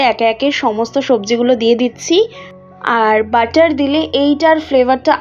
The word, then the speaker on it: datshi: আমরা যদি ইংলিশে বানানটা দেখি তাহলে নাম হচ্ছে EMA, এমা, DATSHI। তাহলে উচ্চারণ অনুযায়ী দাচি হওয়া উচিত, কিন্তু ভুটানিজ ভাষায় এটাকে বলা হয় দাচি।